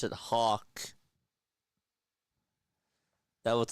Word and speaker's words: Hoff: I will look up the pronunciation for you right now. It's Hawk.